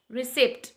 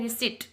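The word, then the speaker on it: receipt: next है रिसिप्ट, जैसा हम बोलते हैं ना रिसिप्ट, रिसिप्ट, जबकि यहाँ पी साइलेंट होता है, इसका होता है रिसिट, रिसिट, रिसिट, रिसिट mean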